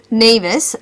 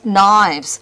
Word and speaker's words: Nives: So my name, for example, is Nevis, and it's spelt N-I-V-E-S. The TTS robot will pronounce it as knives.